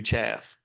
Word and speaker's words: chaff: Or maybe he says don't don't I'm tipping you chaff. So I thought it was chafe. So it's chaff because it rhymes with half because he's rhyming because he's a he's a dumb redneck.